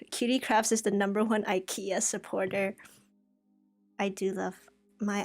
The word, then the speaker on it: IKEA: only problem like qdcrafts is the number one ikea supporter i do love my ikea products i